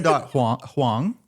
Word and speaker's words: Hoang: hang.